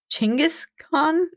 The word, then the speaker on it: Genghis Khan: known for throughout history genas Khan that sounds amazing and some people pronounce it chingis k instead of gasan and that's only because translating things to English was a little tricky so if you think